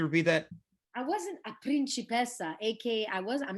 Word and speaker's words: principessa: I wasn't a principessa, aka I'm not a princess. It's just Yeah. too hot. A principessa. Very good pronunciation.